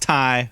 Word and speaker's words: Tay: great performance here uh it's spelled tay but it's pronounced tai i'm giving it to ty conte uh yeah future